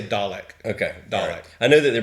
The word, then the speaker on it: Dalek: dialect a homemade dollar how do you say dalek or delic i say dalek okay i know that they're british so they